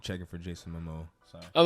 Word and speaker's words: Momoa: I'm not checking for Jason Momoa.